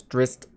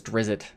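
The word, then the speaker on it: Drizzt: it's not drizzit right it's drist but jordan but it's uh everyone just says drizzy because it's it i think it's a cooler sounding name drizzy even if it's not the right pronunciation the point is we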